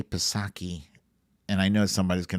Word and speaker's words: Psaki: It's such a relief watching Jen, I want to say Psaki, and I know somebody's going to be like, the P is silent.